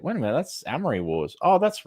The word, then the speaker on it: Amory Wars: band the story is the Amry Wars yeah a lot of people called The Armory Wars it's not what it is I don't know how to pronounce it no you got it right you got it right you had it correct I'm saying a lot of people say the Armory Wars well it doesn't it